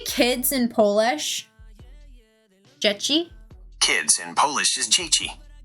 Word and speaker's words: dzieci: That's how I remember being told how to pronunciate it, but I don't know how accurate my pronunciation is. Hey Google, can you say kids in Polish? Dzieci?